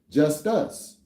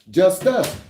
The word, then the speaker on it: Justus: So you'll get the understanding of what Jesus is and how to actually phonetically say it. Jesus meaning just us.